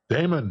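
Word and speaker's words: daemon: as I thought it's uh how do you pronounce d AE m o n Paul Damon Dam Damon Dam thank you and uh wheel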